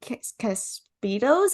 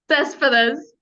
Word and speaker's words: Cespedes: I'm so happy to welcome Caspitos. Is that how you say it? Cespedes. Yeah, Okay.